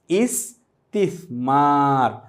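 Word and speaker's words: استثمار: আর বিনিয়োগকে আরবিতে বলা হয় ইসতিসমার অর্থ বিনিয়োগ। ইনভেস্টমেন্ট এটিকে আরবিতে বলা হয় ইসতিমার। প্রথমে সিন তারপর সা মিম এর সাথে একটি আলিফ আছে আমরা এভাবে উচ্চারণ করব। ইসতিসমার এই ব্যবসা সংক্রান্ত যে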